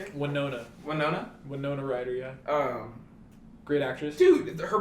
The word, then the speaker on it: Winona Ryder: Winona Ryder, yeah.